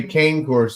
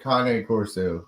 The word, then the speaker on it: Cane Corso: sister few years ago I hear that guys who didn't say Kan Coro he said Kane Corso what is what it's supposed to be called thank you Justin thank you I I had to correct my vet because my vet was like K courtz I said no it's Kane they're an Italian breed Kane is not an